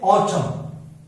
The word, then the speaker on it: autumn: यदि N आता है, M के बाद क्या आता है N, तो उस कंडीशन के अंदर क्या होता है कि जो हमारा N होता है वो साइलेंट होता है, N is not pronounced, N is not pronounced।